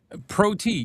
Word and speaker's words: PROT: Red cabin pro t. Yeah, that's that's the way they spell it. P R O T. Pro T. A M A pro T.